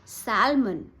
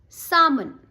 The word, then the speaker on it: salmon: Not salmon. L is silent here. It's salmon.